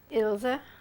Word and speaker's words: Ilse: you tell me your name today please and spell it for me illsa i-l-s-e yes and your name at birth